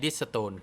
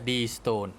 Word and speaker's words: Deestone: นะ ครับ เพื่อน ๆ ไม่ ใช่ Restore นะ ครับ ผม ออก เสียง ผิด แต่ มัน เพื่อน ๆ D D D D E S T E N E นะ ครับ อ่าน ว่า Deestone นะ ครับ เพื่อน ๆ ก็